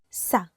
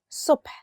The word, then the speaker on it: صبح: For the word subh, lots of people cannot pronounce the letter sa. And sometimes you mix it with sa. But morning, subh, is with a sa.